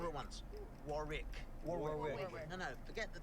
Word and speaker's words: Warwick: Not the first W, the middle one.